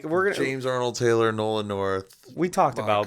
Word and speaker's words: James Arnold Taylor: james arnold taylor yeah taylor arnold arnold taylor i think it's arnold taylor i think and i think he said taylor i did say it wrong yeah it's james arnold taylor yeah whatever yeah we